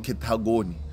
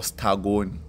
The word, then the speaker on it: Ketagoni: they are now in Ketagoni, okay, or Stagoni. Okay. It's written Stagoni, but it's Ketagoni, yes, the most Balobedu people would pronounce it from the area.